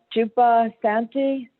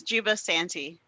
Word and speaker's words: Juba Santi: for mispronouncing your name is it a jupa Santi who I'm really bad at names yes it's Juba Santi hi yes thank you